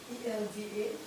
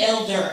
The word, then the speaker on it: Elda: E-L-D-A. Oh, Elda. Okay, I got you. I want to say elder, so I'm glad you helped me.